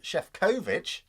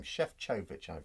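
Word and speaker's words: Šefčovič: that it is counting chefkovich chef chovich i've been called up on my pronunciation of his name chef chovich i believe it is as a eurocrat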